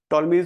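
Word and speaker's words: Ptolemy: का नाम जियोग्राफी है टॉलमी टी टी ओ एल ई एम Y silent होन में पी टी ओ एल ई एम वाई टॉलमी geography इन की किताब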